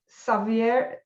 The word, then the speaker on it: Xavier: pronounce his name because it's the catalan way and not the the castellano way so savvy anyway yes